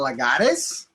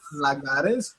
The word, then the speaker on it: Lagares: I'm Lagares. You can pronounce that Lagares or Lagares.